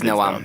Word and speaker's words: Noam: I'm terrible with pronunciation, so I'd go with Graeme. Is it definitely Noam? It is Noam.